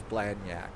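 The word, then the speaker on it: Blagnac: It's Blac. The G is really really really really silent.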